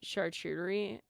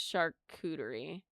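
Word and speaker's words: charcuterie: Um, for years I've been saying chartery and it's not charter. It's shery and I've been saying it wrong this whole time in public by the way.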